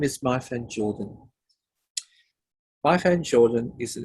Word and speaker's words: Myfan: It's Myfan. Myfan. Myfan, yeah. But people have been mispronouncing it for 57 years now, so I'm used to it.